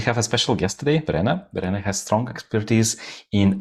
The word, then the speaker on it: Verena: Yeah, by the way, so it's Verena, right? Do I pronounce it correctly?